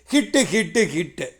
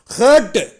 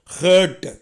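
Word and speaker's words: hurt: இங்கே பாருங்கள், ஹேர்ட்டு அப்படி உச்சரிக்கணும். அதை ஹட்டுன்னு சொல்லக்கூடாது, ஹட்டு கிடையாது. ஹட்டுன்னா அது குடிசை, அப்படி அர்த்தம் வந்துடும். ஹேர்ட்டு ஏப்பம் ஓடுற மாதிரி சொல்லுங்கள், ஹேர்ட்டு.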